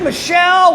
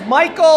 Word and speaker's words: Michel: Sony, Michelle, whatever his name is, Michael, I don't know, the boy with the last name. I think it's Michel. All right. Michel. You got to say it like that.